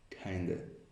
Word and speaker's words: kinda: of, it is just kinda, kinda like. Ladies and gentlemen, the fast pronunciation of kind of like is kinda like.